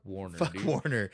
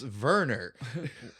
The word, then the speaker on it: Warner: You You don't even pronounce it not right It's Verer. Oh man, I hate Go full German or not at all, man.